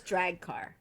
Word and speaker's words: Draghkar: The drag car. She says drag car. So, okay. Drag car. So you're saying it's spelled a lot closer to how it... I always said Drakkar, but she says drag car.